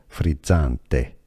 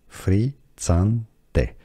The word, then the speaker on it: frizzante: In Italian it's said as frizzante, frizzante. You have the double Z, which is like pizza, frizzante.